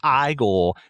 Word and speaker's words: Igor: hmm oh you must be eagle no it's pronounced I goal it's a dude up and to that point